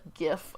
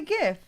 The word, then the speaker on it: GIF: It's a GIF. No, it's a GIF. It's the acronym is G for graphic. It's a hard G. It's not. Says who? Says the person who invented them.